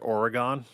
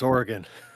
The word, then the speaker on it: Oregon: I could tell cuz you pronounce it correct. Most people on the East Coast call it Oregon and I'm like, "No, it's Oregon."